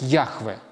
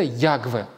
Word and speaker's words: Яхве: Адонай, или буквально по тексту там стоит тетраграмматон, который, ну, если так вот по буквам произносить, будет звучать как Яхве. Яхве.